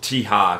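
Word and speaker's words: Tikhar: I did learn that it's actually called Tiha, because I heard him say it. There is a, it's a silent K or something. Either way, it's a Tiha, I think, something like that.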